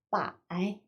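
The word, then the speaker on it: 百: 링이라고 읽어주시면 되겠고요. 100은요. 빠이, 천은요.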